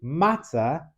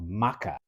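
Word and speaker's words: maca: the pronunciation of Polish I just thought it was something called Maka but then once I learned that a c was a t I realized that there was matah being sold as a cracker Jews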